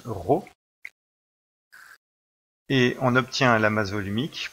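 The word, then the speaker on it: rho: l'amazone unique est représenté par une lettre grecque comprend qu'ils se prononcent ro et on obtient l'amazoo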